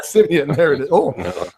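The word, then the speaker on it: Siemian: I want to say Seaman, but I know I'm not going to be saying it right. Yeah, Simeon.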